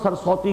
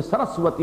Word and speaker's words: سرسوتی: کتابیں, ان میں سرسوتی جسے ہم سرسوتی کہہ دیتے ہیں, اصل میں سرسوتی اس کا تلفظ ہے, یہ بڑا مقدس دریا تھا.